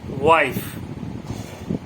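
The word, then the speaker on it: wife: আই হলে তার উচ্চারণ আই হয় কিন্তু ইয়ের উচ্চারণ হবে না, যেমন ওয়াইফ, WIF, ওয়াইফ।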